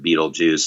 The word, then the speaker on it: Beetlejuice: I don't know if it's a pun exactly, but the idea of that we would take BeetleGuice but pronounce it BeetleJuice, and then we changed